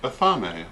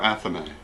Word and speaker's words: athame: Pronounced athame or athame.